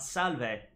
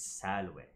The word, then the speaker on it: salve: But if these Romans are supposed to be speaking classical Latin, it's not salve, it's salve.